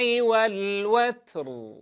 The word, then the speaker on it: والوتر: والشفع والوتر. والشفع والوتر. أسمع أيضا صوت سين مع همس التاء، لا نقول والوتر والوت، هذا الصوت المصاحب لهمس التاء غير صحيح.